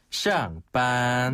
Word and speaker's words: 上班: 그러니까 출근은 上班. 네. 퇴근은 上班. 그리고 퇴근은 下班. 네. 샹과 시아입니다. 그렇죠. 샹과 시아인데요. 이때 샹은 윗상자, 시아는 아래 하자 발음이에요.